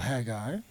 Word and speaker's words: Haggai: Here, if you go to the book of Haggai, or Haggai, we're going to go to the first chapter of Haggai.